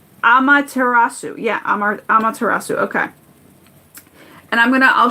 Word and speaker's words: Amaterasu: How to pronounce her name. Amaterasu.